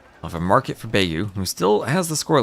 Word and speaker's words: Beigu: Beu making this interesting. Rhymes with Wu beef.